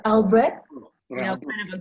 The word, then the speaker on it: Albrecht: It's a, Albrecht? you know, kind of a guttural. Okay, yeah, right. You got to get that guttural thing.